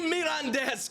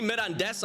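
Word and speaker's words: Mirandés: I think CD Mirandes I'm saying correctly because it's got the little thingy on the E. Mirandes.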